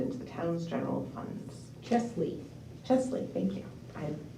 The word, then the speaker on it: Chesley: Chesley. Chesley, thank you. I said it and I thought it sounded funny. It's spelled both ways in the There's an actual grant.